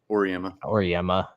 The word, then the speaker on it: Auriemma: So if you know how to pronounce it, please tell me. Auriemma.